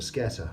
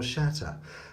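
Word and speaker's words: sceatta: Anyway, and look at that, yes, the skeet or scatter, or as it's properly pronounced, shat or shatter.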